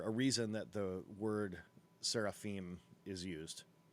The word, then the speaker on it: seraphim: camp it describes them in the hebrew of the torah as hashim sarafin as fiery serpents now as you even hear that seraphim in english we have anglicized this pronunciation you you will know